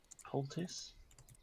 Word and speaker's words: poultice: It's pul, like healing. poultry, then T-I-C-E. Poultice.